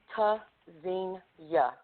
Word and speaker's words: Tzynya: Pronounced Tzynya, verb from Hebrew, meaning to listen for, hear. Spelled T-Z-Y-N-Y-A. The first letter, T, is a stop. Disrupts airflow. Quick, sharp, staccato.